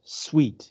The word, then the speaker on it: suite: also talk about this sweet s-u-i-t-e is pronounced sweet it's from the French we mentioned that this